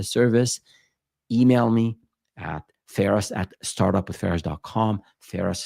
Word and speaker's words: Feras: Ferris spelled Feras, like my first name.